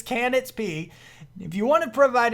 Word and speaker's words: Canitzp: If you do want to provide any kind of support to Canitzp, sorry, I keep saying your name wrong, buddy. It's Canitzp.